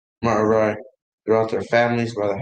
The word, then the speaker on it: Merari: It's pronounced Merari.